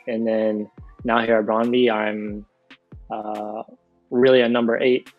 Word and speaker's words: Brøndby: And now you're at Brøndby. That's how you say it. That's how you told me to say it. Brøndby, yeah. Brøndby.